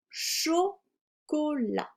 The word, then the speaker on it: chocolat: Dans la caisse, il y a des bonbons, le S est muet, et du chocolat, le T est muet.